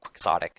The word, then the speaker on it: quixotic: and replace squeamish with quick psychotic or quixotic I guess is how you pronounce it yep okay all right